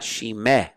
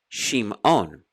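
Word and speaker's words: שמעון: Now here's a perfect example of a Shava Nach, because it doesn't sound under the mem. It's Shim. It's not Shimeon. It's Shimon.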